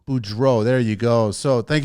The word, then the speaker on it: Beaureault: never even tried last names how do you pronounce it Boudreaux Boudreaux there you go so thank you so much